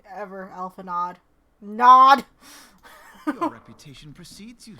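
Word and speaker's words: Alphinaud: Okay, apparently that D is fucking silent. I'm not gonna say it properly, ever, Alphanod.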